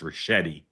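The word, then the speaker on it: Ricchetti: His name is pronounced Rashetti.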